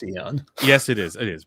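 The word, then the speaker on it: Aeon: it I agree that that's the word is pronounced Aon yes it is it is but people also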